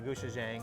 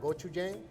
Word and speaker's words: gochujang: And we have a gochujang. I don't even know Oh, that's the what you say. gochujang? Yeah, thank you for That's the pronouncing Korean that style?